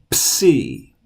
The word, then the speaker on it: psi: have in English it's C say it it's coming see like in the word Pepsi C as a PS sound and the uppercase and